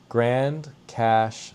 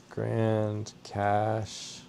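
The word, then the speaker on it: Grande Cache: Grand Cash, Alberta, but it's spelled with an E, which is odd. Grand Cash, Alberta, Canada.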